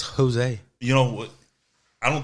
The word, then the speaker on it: Jose: So what kind of ways do they mispronounce it? Because Jose, it's Jose.